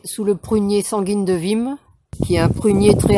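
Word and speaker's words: Wismes: Alors il est placé sous le prunier sanguine de Vim, qui est un prunier très hâtif. Alors Vim, ça s'écrit W-I-S-M-E-S.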